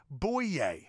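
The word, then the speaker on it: Bouye: very funny show AJ buiiets I am it's pronounced boo yay boy yeah boy yay just ask him okay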